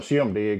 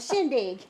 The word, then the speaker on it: shindig: having it's called a shim dig ain't it a shim dig is that how you say it a shim shim dig a shindig a shindig that's what it